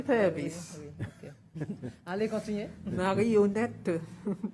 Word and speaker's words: marionnette: Marionnette. Is it how you say it in French? Marionnette, oui.